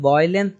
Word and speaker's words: violence: जब वायलेंस बोलते हैं तो यहाँ पे आई साइलेंट हो जाता है।